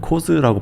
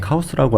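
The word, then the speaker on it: KAWS: 지금의 파바트는 캐릭터가 많고 이제 뭐 카오스라고 이제 미국 발음으로 뭐 코스라고 발음할 수도 있는데 카우스라고 알려진 작가도 캐릭터 기반이고 맞아요.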